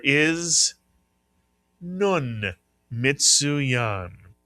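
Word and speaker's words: נון: The name of the letter is nun mitsu yan.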